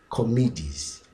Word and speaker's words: comedies: carefully, you see that the plural pronunciation of comedy is different from the singular form of comedy. One more time. Comedy or comedy. When you come to the plural, it becomes comedies.